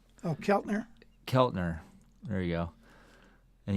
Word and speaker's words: Keltner: way uh listen to a drummer interviewing Jim kitner oh Keltner Keltner there you go any pronunciation talked about how talked about the genius